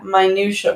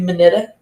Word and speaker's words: minutia: As I stutter and mispronounce words, like what did I mispronounce earlier? Minutia? Minutia, yeah. Minutia. What did I say? Minuta? Yeah, you went minuta?